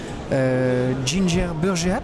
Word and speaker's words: Ginger Burgeap: sur word efficiency vous êtes co exposantes avec ginger burgeap c'est comme ça qu'on prononce oui c'est comme ça qu'on prononce oui